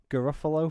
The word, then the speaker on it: Garofalo: page that was like Garofalo fans right why have you add an extra syllable to that no not my not mark ruffalo Janeane Garofalo okay she was in mystery